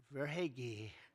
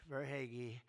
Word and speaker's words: Verhaeghe: a man named Carter Verhaeghe. Carter Verhaeghe. Where's Carter? I could only pronounce that name because I heard it so many times during the service. I said hair is right.